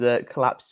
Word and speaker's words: Colapz: And for whoever wasn't watching last week, it is Colapz, COLAPZ is how it's spelled.